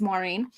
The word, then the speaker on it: Maureen: I'm assuming she means Maureen um I don't pronounce it exactly the way the Irish do but it's so similar to the angle sized version m-a-u-r-e-e-n Maureen that that's basically how I pronounce it let's see oh